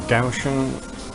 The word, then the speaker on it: Kaohsiung: Yeah, I had issues with internet in Kaohsiung at the start of my trip, or Kaohsiung as they pronounce it.